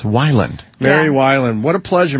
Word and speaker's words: Weiland: Everybody says Wayland. Wayland, too, sometimes. Weiland. But it's Wyland.